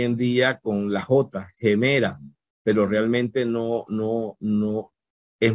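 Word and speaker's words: ἡμέρα: la vamos a trasliterar gemera gemera con acento en la en la penúltima sílaba verdad gemela bien continuamos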